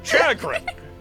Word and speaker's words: chagrin: It's pronounced chagrin? I thought it was chagrin this whole time. Chagrin. It's chagrin.